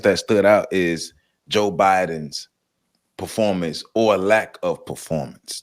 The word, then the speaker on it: Biden: a debate between Joe Byron and I know I'm saying it wrong for some of you people in the comments it's Joe Biden I know it's a joke